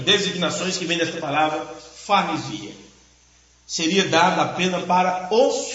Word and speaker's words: parresia: É a palavra parresia.